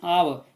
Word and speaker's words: hour: It stops for an hour. Here, hour, H is silent, means it's beginning with O, and hence it stops for an hour, AN.